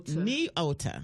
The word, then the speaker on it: Nyota: just mispronounce your name is its knio knio ta yes ladies and gentlemen is spelled in y ou TA and then your middle